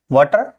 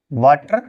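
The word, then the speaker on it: water: आ का ठीक है जैसे वाटर तो य पे होगा वाटर ठीक है ये साउंड देगा ओ का वाटर वाटर नहीं वाटर वाटर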